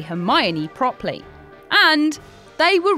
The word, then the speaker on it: Hermione: pronounce her name properly he calls her her my own rather than hermione so hermione decides to